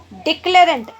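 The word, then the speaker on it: declarant: Next word है डिक्लेरेंट। अब डिक्लेरेंट correct pronunciation तो बेटा डेक्लेरेंट होता है, पर डिक्लेरेंट को मैंने थोड़ा सा नीचे इसलिए बनाया ताकि मैं आपको आउटलाइन को अच्छे से समझा पाऊँ।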